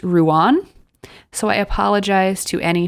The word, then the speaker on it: Rouen: I kept saying Rhone, I believe, but according to Emma, it is actually pronounced Rouen.